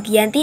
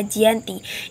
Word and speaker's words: Giyanti: 13 Februari 1755 nama Gianti diambil dari lokasi penandatanganan perj di desa jianti yang pada pelafalan Belanda dibaca Gianti di masa silam perjanjian